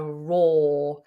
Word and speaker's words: roar: a raw a raw it looks like it might be raw because it's got r o a r in the spelling of it but we pronounce it with a long vowel or raw it's exactly the same as the word raw like meat that hasn't